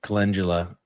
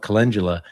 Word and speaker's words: calendula: commonly mispronouncing things, and I called calendula calendula, and I can't tell you Calendula. how many people ripped me a new one over saying it that way.